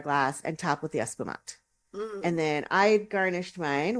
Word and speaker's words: espumante: Espumante. I keep wanting to make that extra syllable on the end. Right. Because that's what you would do in Spanish, but it's Espumante.